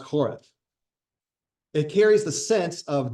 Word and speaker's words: Horeb: In Hebrew, it's actually pronounced Horeb.